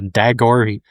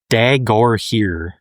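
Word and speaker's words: Dagorhir: Yeah, Dagor. Dagore. Yes, that is phonetically how it's supposed to be said.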